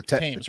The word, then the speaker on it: Thames: london's how do you say it thames river times river what's this tam t-h-a-m the thames the teams right thames yeah the thames right the river